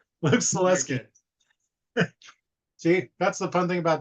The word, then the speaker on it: Salewski: of the W and we determined the W is silent so yes and your